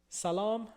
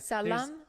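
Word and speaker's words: سلام: But all right, it is salam sobh khair. Ooh, that last part. Right? Can you say it again? Sobh khair. Bachait. Bakhair. Salam so bachaim.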